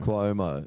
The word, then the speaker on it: Cuomo: something like that and it's spel and it's pronounced cumo Cuomo Cuomo yeah he's a do